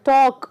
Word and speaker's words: talk: So the talk, walk, here L is silent.